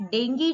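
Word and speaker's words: dengue: In fact डेंगू जो है, डेंगू को मैं डेंगू बोलती हूँ, ठीक है, कई जगह आपको मिलेगा बेटा that actually डेंगी इज the correct pronunciation.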